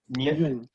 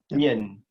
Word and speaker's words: Nguyen: pronounce that right? Okay, thank you. See you guys. And then Joe Nguyen. Yun.